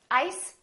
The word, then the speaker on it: ice: Ice, eyes. Listen to the difference. Ice, eyes. This S is actually pronounced as a Z sound.